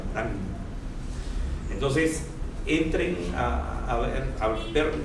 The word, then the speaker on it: Morin: Entonces, se escribe Morin, pero como es francés se pronuncia Morán.